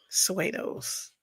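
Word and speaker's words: pseudos: So um I think the way you do it you got to put a P in front of the S. Nerdy Brew the P is silent. Suos, that's what we got.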